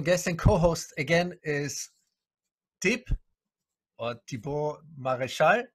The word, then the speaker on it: Thibaud Marechal: My special guest and co-host again is Thibaud Marechal, right? Do I pronounce it correctly?